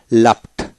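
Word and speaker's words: laughed: তারপর আসেন লাফ, লাফ LAUGH লাফ, লাফ শব্দ করে হাসা, লাফট লাফট অর্থাৎ ইডিতে ট উচ্চারিত হয়, লাফট লাফট।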